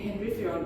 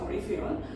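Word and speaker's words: Henri Fayol: এবার দেখা যাক অরি ফেয়ল, যাকে আমরা ইংরেজিতে হেনরি ফেয়ল বলি, কিন্তু অ্যাকচুয়াল প্রোনাউন্সিয়েশনটা হচ্ছে অরি ফেয়ল।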